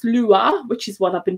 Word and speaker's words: Lua: was quite interesting is that the word is pronounced lua which is what i've been doing but it